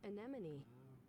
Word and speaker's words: anemone: I'm just gonna look up how it's pronounced. Anemone.